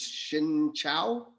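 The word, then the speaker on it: xin chào: me see in vietnamese the right way to say hello is shin chao yeah so shin chao everybody thanks for having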